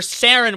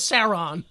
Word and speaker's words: Saren: How about some points for me knowing what Saren is and not pronouncing it as Sauron?